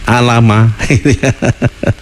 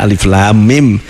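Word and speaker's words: الم: lam dan mim tidak dibaca Alama tapi dibaca Alif Lam Mim karena memang dari guru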